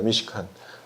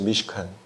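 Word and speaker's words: מִשְׁכָּן: 오늘 여기 1절에서 보면은 성막이라는 그런 단어가 나오는데 특별히 이 성막이라는 단어는 히브리어로는 미시칸입니다. 미시칸. 저 앞에 지금 써 있죠? 미시칸이라고. 한번 따라해 보시죠. 미시칸.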